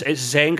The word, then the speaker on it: Zynga: No, it's Zynga. I don't know how you spell it though.